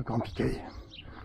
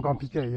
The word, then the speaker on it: Grand Piquey: Voilà, c'était la visite du petit village ostréicole de Grand Piquet. Toujours Grand Piquet, hein, le Hey, hein, comme je vous l'ai dit tout à l'heure pour Petit Piquet. Ne vous trompez pas dans la prononciation.